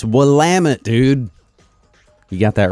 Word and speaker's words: Willamette: south of what is now Portland Oregon its Willamette dude you got that wrong remember we were